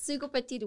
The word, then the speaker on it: Sugopetite: Sugopetite, which stands for Susan Gomez, Sugo, and then obviously the word petite is dedicated to short women.